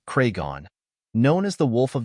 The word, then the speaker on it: Cregan: of a gangster to be honest Taylor's kraan pronounced craigon known as The Wolf of the North in